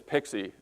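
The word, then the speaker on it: PKCE: this this morning is pixie it someone came up with the pronunciation pixie so I wanted to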